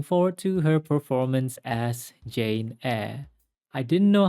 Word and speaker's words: Jane Eyre: I was pronouncing it Jane a but after Googling it um I realized that the Y is silent there are many versions